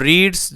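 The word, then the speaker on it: read: सीधे-सीधे channel subscribe our रीड first form present इंडेफिनिटे tense past tense रीड की second form भी यही होती है इसका उच्चारण बदलता है सिर्फ इस कॉरीडोर ऐड हम रीड करेंगे इसी रेड इन आ बोर्डिंग स्कूल ठीक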